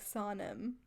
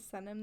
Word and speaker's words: Senem: And then Senem has told me this before, like, well, it's actually pronounced like Sonem. What? And I'm like, are you joking me? You've just been letting me pronounce it Senem this whole time?